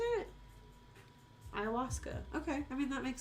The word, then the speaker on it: ayahuasca: So, Ayahuasca? Is that how you say it? Ayahuasca.